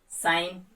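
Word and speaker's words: sign: Rule मैं बता चुका हूं आपको, अगर जी के बाद एन आएगा तो उस कंडीशन में जी नहीं बोला जाएगा।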